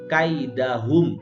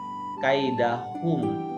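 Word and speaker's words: كَيْدَهُمْ: alam yaj'al ya jamalu kaidahum Nah inilah gede absolutnya jadi jangan kalian bacanya kaidah hukum tapi kaidahum kaidah hub v-pump belil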